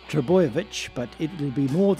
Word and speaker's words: Trbojevic: and before you ask it's pronounced triboyevich but it will be